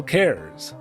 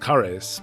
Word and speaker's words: Cares: Carl Cares. Okay, it's actually pronounced Caris, but I mean, look, the spelling in the manual is Carl Cares.